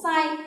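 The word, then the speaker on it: 再: Tiếp theo chúng ta có một số tiền tố nữa, đó là tiền tố sai. Chữ này của âm Hán Việt là tái, và khi đứng một mình nó đọc là futatabi, làm cái gì đó lặp lại, đúng không nào?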